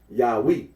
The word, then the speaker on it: Yahweh: of those who regard this name as anciently pronounced Yahweh, like the Samaritans.